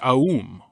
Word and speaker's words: Aum: Each of the sounds in these mantras are pronounced as you exhale, so each letter gets its own attention. You might also use Aum or Om. First Ah, as in Ah, U as in bloom, and as if you're agreeing with someone.